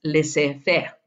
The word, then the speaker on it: laissez-faire: O, si lo pronuncias en francés, laissez-faire.